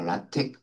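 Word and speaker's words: LaTeX: 아까 라텍 latx 라텍이라고 읽기도 하고 레이텍이라고 읽기도 하는데 이런 문법을 이용을 하면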